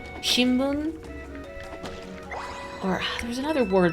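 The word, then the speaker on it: 新聞: They're written with like an M, but they're pronounced with an N sound, like a newspaper, shimbun.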